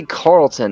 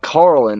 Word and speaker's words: Carlin: right is yeah Carlin I always say Carlton I like like freaking from freaking uh what was it uh press prin Blair I always mispronounce it and say Carlton and it's Carlin and I always it's